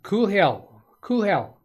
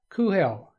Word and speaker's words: Coolhell: the way he likes, but Coolhell is the way I'm taking that to be. You could even pronounce that a little different. You could say Cool Hell or Cool Hell. There's some variations around Cool Hell that might be right.